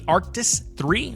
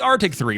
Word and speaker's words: Arctis: This one's $40, and I've heard good things about the Arctis 3. I believe that's what that is actually pronounced. I always called it the Arctic 3, but that's probably my mistake.